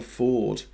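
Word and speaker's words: Fforde: Graham, in Welsh, F is pronounced like V, so FF is pronounced like F. There's that writer, isn't it? Jasper Ford, whose name begins with a double F, who writes the Tuesday Next series.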